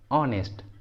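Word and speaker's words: honest: ऑनेस्ट, ऑनेस्ट। Honour, honour, इन सभी words में एच सामने में है इसलिए एच साइलेंट है, एच का प्रोनाउंसिएशन नहीं हुआ है।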